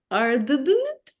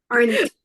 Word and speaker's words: Arndt: director, el guionista, que ayúdame, Mónica, con la pronunciación, se llama Michael Arndt, Arndt, Arndt.